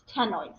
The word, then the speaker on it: ctenoid: Okay, so we have cycloid and ctenoid, right? That first C here in the second one is silent, so we just start with the T. It's ctenoid scales.